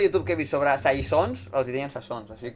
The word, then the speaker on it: Saison: Tu veus que es pronuncia Sasson? Sasson. Això- Saison.